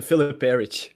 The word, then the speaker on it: Filip Perić: That's the right pronunciation in it. Yes, it is. It's the Filip Perić.